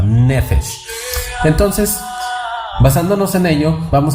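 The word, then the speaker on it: נפש: Es decir, que empezó a tener ese soplo, es decir, ese nefesh o nefesh, porque estoy acentuando yo mal. Debe de llevar la acentuación en la primera sílaba, nefesh.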